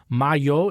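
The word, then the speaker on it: Majo: They said the Y in M-A-J-O, Mayo, is like Juventus, which makes sense.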